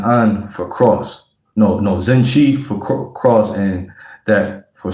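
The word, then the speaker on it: zinche: That's spelled Zen Chi is spelled Z I N C H E like it sounds and Zen N is spelled like it sound too.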